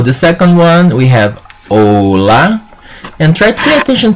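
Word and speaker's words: hola: of the lesson like ola for the H family that you have a A E O because the H is silent.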